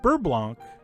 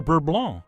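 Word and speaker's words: beurre blanc: but anyway that's it burr blanc or burblon if you prefer no matter how you pronounce it i really do hope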